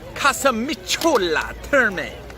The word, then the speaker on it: Casamicciola Terme: Pronunciation down now. Casamicciola Terme.